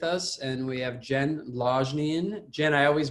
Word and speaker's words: Longnion: So how do you pronounce your last name? It's Longnion. There you go. Say that one more time. Longnion. Longnion.